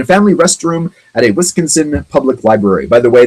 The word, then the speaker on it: Wisconsin: a toilet in a family restroom at a Wisconsin public library. By the way, the pronunciation there, Wisconsin.